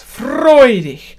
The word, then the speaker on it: freudig: Freudig, freudig, joyfully, that means. Sort of literally joyly, freudig. It's the same as the English Y, the IG in German.